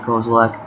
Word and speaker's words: Kozilek: Inquisition, Kozilek, or Kozilek, however you pronounce it. I pronounce it Kozilek.